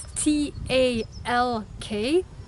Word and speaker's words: talk: talk you ride it ta LK some but you do not pronounce the L in the world in